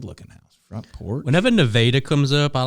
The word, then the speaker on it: Nevada: Nevada, if you come down southeast, that is how you say it, folks.